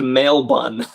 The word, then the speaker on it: Melbourne: Oh, it's pronounced mail bun.